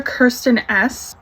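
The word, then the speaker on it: Kristin Ess: This is a Kirsten S, that's how you say it, Style Reviving Brunette Dry Shampoo.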